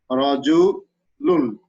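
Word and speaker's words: رَجُلٌ: There is tanwin on lam. It is pronounced as rajulun.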